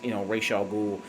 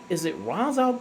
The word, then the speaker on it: Ra's al Ghul: Because I've always heard in the comics and the animated series they pronounce Ra's al Ghul. And I think even in Arabic, where that name comes from, that's how it's pronounced.